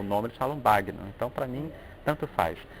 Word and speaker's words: Bagno: Em italiano, a gente pronuncia banho com A aberto, né, e nhê. Né? Muitas pessoas falam banho, mas nós mesmos, na família, já falamos bagno.